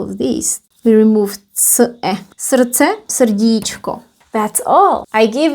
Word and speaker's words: srdce: The D here is not pronounced, so it's srdce. And then we actually remove all of these. We remove c-e. Srdce, srdíčko.